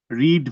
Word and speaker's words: read: তার মানে এটা রয়েছে পাস্ট ইনডিফিনিট টেন্সে, কারণ আমরা জানি রিড ভার্বের 3টা ফর্ম সেম, কিন্তু উচ্চারণ ভিন্ন। প্রেজেন্ট টেন্সের উচ্চারণ রিড, পাস্ট টেন্সে রেড, পাস্ট পার্টিসিপলেও রেড।